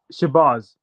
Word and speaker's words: Shabaz: say your name properly it's shabaz shabas okay shabas yeah yeah why are you